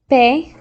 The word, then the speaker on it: pe: So pay is like you're going to pay the bill.